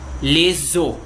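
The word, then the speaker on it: les os: E os ossos fica leso, sem pronunciar o S.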